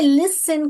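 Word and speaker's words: listen: तो देखो इसमें लिसन का है क्या? इधर एल है। इधर आई है। इधर एस है। लिसन टी एन T silent है।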